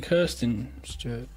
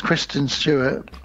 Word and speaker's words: Kristen Stewart: Isn't it Kirsten Stewart? I don't know what her name is. It's Kristen Stewart.